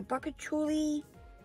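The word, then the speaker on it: Bakuchiol: Yes, this is a Bacchouli, that's how you say it, Toning Boost Moisture Cream.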